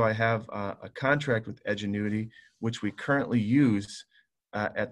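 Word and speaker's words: Edgenuity: online or outside company edge annuity it's how it's pronounced that's if we're going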